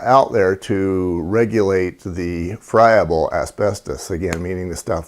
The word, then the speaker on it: friable: cover is a term called froebel or friable i've heard it pronounced both ways the the proper way is friable the term basically means